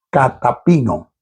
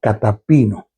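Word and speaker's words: καταπίνω: me llamó mucha la atención viene del griego catapano se escribe k a t a p i n o catap ino cuyo cuyo más amplio significado en su más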